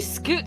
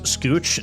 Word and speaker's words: scooch: Dude, why'd you scoot so close to me? That reads scooch, not scoot, you fucking LumLum. You pronounce the H, scooch.